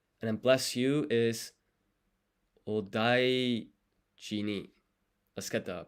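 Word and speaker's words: お大事に: And then bless you is odaiji ni. Let's get the pronunciation for that one.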